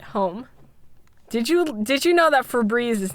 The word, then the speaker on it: Febreze: Did you know that Febreze is not spelled the way that you thought it was?